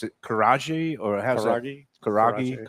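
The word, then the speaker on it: karaage: And it's Do I I always mispronounce things. Is it karaji or how's it kuragi? Karaji.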